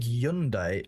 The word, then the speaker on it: Hyundai: You pronounce it without the H like yundai.